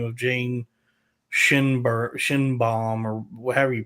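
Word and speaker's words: Schoenbrun: Like the director is a trans lady by the name of Jane Shinbaum or however you pronounce her name. But she Scheinbaum.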